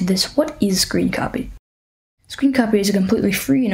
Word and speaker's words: scrcpy: how to say it screen copy so apparently you're supposed to say it like screen copy which makes sense because